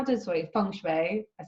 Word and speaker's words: feng shui: it's a learning process so in regards to french way um how how does sorry feng shui i say it wrong you got it you